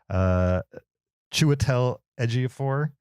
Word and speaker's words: Chiwetel Ejiofor: Chiwetel Ejiofor is also great. Did I say it right? Yeah, well, close enough. Close enough. A little bit more British on it next time, but you should be fine.